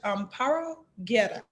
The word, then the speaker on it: Amparo Guerra: First of all, I want to make sure I am pronouncing your name correctly. Judge Amparo Guerra. Wow, perfect.